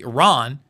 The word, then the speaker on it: Iran: Iran, I should pronounce it correctly, Iran, is more than likely a nuclear nation, but has a first world military anyway.